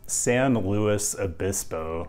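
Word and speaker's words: San Luis Obispo: address this right up front the way locals pronounce the name of this city is San Louis abiso which as an outsider seems strange but what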